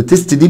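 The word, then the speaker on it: tasted: منطوق هو الت ساوند، هقول له خلاص يبقى الاي دي هتنطق او الدي اللي انا زودتها دي هتنطق اد، فبالتالي النطق بتاعها يبقى تيستد تيستد تيستد.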